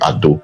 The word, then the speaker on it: Edo: Wherever you hear Ado or Yoruba people pronouncing Ado, they are still referring to Benin. They are referring to Edo. That's how they pronounce Edo.